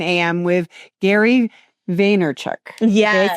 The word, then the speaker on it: Vaynerchuk: with Gary Vaynerchuk.